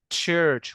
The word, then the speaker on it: church: طيب church اللي هي كنيسه، النطق الصحيح بتاعها church.